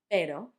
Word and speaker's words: pero: Because on the third word you can see pero. If you don't have those two R's, it will sound like pero.